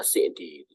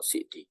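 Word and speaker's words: السعدي: Tulisannya Sa'di, tapi beberapa ustadz itu membacanya As-Sa'di. As-Sa'di. Karena kampungnya kampung Sa'di.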